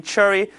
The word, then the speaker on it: Chery: Chery is the sole distributor for the car, which you could pronounce it Chery. This is the pronunciation in Chinese.